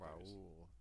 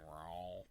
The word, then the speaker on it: Raul: Raul. That's Raul. how you say it. Raul. Raul. That makes way more sense. Yeah, otherwise it's just Paul with an R.